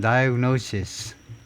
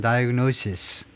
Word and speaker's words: diagnosis: 단수는 diagnosis. 마지막 발음이 S입니다. 마지막이 S요. diagnosis. SES 하면 복수고요. 발음은 어떻게 구별하니? 마지막 자음 가지고 구별합니다. 단수는 diagnosis. S 발음. SES는 마지막에 Z 소리요.